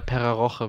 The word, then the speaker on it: Pera Rocha: Ja, Pera Rocha wird das Rocha, ausgesprochen.